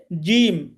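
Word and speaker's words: جيم: হরফ এটির নাম হচ্ছে জিম জিম জিমটা উচ্চারণের সময় জিহবার মাঝখানটা উপরের তালুর সাথে লাগিয়ে উপরের তালুর সাথে লাগিয়ে উচ্চারণ করতে হবে একটু শক্তভাবে জিহবার মাঝখান উপরের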